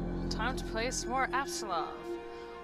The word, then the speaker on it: Apsulov: Time to play some more Apsulov, which I learned recently that I've been misremembering and mispronouncing. There's a P there, not a B.